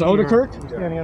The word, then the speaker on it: Odekirk: It is Odekirk. Is that how it's pronounced? Yeah, that's correct.